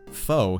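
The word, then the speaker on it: pho: this hill yeah Fair all right foe is pronounced foe here oh man the Japanese know what's going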